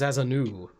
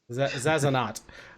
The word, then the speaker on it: Zazanot: I keep reading it as Zazanu. It's not. Okay, not French. The T is definitely there. Zazanot.